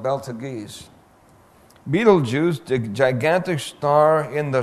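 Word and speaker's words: Betelgeuse: as bright as our son then there's Beetlejuice pronounced Beetlejuice spelled beltagies Beetlejuice the gigantic star in the shoulder Orion well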